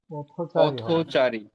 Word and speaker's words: পথচারী: তাহলে কি হবে পথচারী পথচারী এখন দুইটি শব্দ মিলে একটা নতুন শব্দ গঠন হওয়ার কারণে প্রথম শব্দের শেষ বর্ণ থ টাকে ওকারন্ত করে উচ্চারণ করছি এটাও বলা যাবে আবার